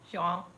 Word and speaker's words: João: João. Oh God. João. João. João. João. João. João. No, it's João. I think it's. I'm pretty sure it's João. like J wow.